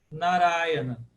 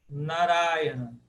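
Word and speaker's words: Nārāyaṇa: No sânscrito contemporâneo, moderno, a gente fala Narayana. Narayana. Ura é a tônica, porque ela é a primeira longa de trás para frente.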